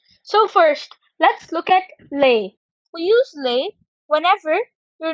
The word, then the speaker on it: les: we do in english so it now becomes lay shells the pronunciation is lay shells so say it with me lay shells lay shells perfect so the pronunciation of